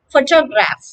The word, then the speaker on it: photograph: the first is easy there are three syllables photograph okay for your graph the stress is on the first syllable okay what is the